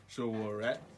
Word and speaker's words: Sowore: How do you pronounce Sowore? Sowore Sowore.